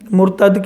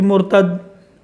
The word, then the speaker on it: مرتد: تلفظ جو ہے نا وہ کوشش کیا کریں، مرتد کو مرتد پڑھتے ہیں تو میم کے اوپر رفع ڈال لیں، پیش جسے کہتے ہیں ہم.